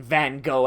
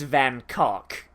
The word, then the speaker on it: Van Gogh: Did you know that while Americans say Van Gogh, and I'm saying Van Gogh because most of my audience is American, in England it's Van Gogh, and in his actual home country it's Van Cock.